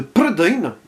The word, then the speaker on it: Prydain: Mais revenons sur ce métrage qui nous intéresse ici, adapté d'un des tomes des chroniques de Prydain, oui, je le prononce à la galloise, car c'est la mythologie locale, hein, ah, c'est pas